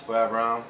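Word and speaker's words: Phoreverim: It's Foreverim, P-H-O-R-E-V-E-R-I-M. Get at me. That's how you say it. Say it again. Foreverim. I'm saying Foreverim is basically saying forever me.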